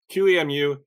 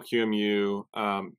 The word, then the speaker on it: QEMU: user awareness training anyways soapbox done sorry um qemu many of you know qmu qmiu there's so many ways to pronounce it um but did you know that